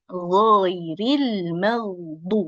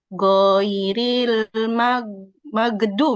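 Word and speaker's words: غير المغضوب: Ghairil maghduh. Seperti itu ya. Hati-hati. Yang perlu dihati-hatikan, hati-hati ghain menjadi tipis. Kemudian, apalagi yang harus dihati-hatikan? Ya, tadi. Huruf lo dibacanya menjadi go. Goiril magdu.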